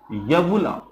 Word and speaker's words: uvula: यवुला spelling है UVULA, यवुला कहते हैं।